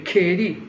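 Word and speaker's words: keri: Senza uno specificante davanti si scrive cheri con la K che diventa g quando ci mettono però davanti.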